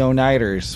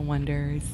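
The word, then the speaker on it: Oneders: american one yeah the drummer from uh the oh nighters what became a werewolf oh that thing you do the wonders pronounced donaters but it didn't seem that interesting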